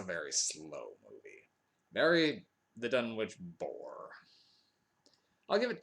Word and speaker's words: Dunwich: There's always been some debate over whether it's pronounced Dunwich or Dunwich, but based on the British city of the same name, Dunwich. But there's no official ruling on how the New England version of Dunwich is supposed to be pronounced, so all intents and